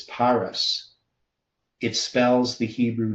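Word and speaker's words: פרס: The root word is Perez, meaning divided, matching the fiscal half mina, but pronounced as Paras.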